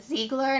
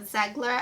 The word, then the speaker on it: Ziegler: haul was like girl her name is pronounced ziegler not zegler i apologize okay i